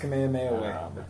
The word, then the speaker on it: Kamehameha: it's probably just the Walmart commander it's it's pronounced kamehameha yeah name of the way or they have